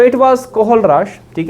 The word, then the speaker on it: Kohlrausch: वास कोहल राश चलिए सो इट was actually spelling है ये के ओ एच एल आर ए यू एस सी एच कोहल राश ला ठीक है सो इट वाज कोहल राश ठीक है जिसने strong electrolyte strong electrolyte strong